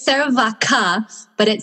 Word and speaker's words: Vacha: Yeah, it's Vaca with that, the D, so Vaca. It's spelled differently.